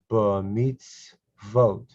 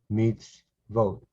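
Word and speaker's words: מִצְוֹת: it's a new syllable meets vote listen to the syllables meets vote three syllables meets vote is one syllable meets is the second syllable vote is the third syllable meets vote because you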